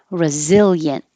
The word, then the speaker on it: resilient: Resilient. And forget about the IE because it's not resilient, it's just yin.